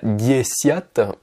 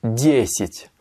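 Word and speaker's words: десять: Alors là, vous remarquez que le ya se prononce i. Je dis pas diesiat, mais je dis diesit. Parce qu'en fait, l'accentuation est sur le yé, et un ya donc qui n'est pas accentué se prononce comme un i. Diesit. C'est pour ça que je dis i et pas ya.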